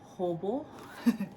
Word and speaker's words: Hobo: Did I pronounce it Hobo?